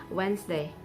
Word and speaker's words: Wednesday: d is silent uh the letter d is also silent in the word wednesday which is spelled as w-e-d-n-e-s d-y it if d is not silent it can be pronounced or it would be